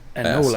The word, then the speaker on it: anole: Which How do are you spell it? small Anole.